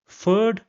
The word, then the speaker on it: Pferd: After that, we have the combination P and F, and this is pronounced like F in English. So for example, we have the word Pferd, which means horse, or the word Pflege, which means care.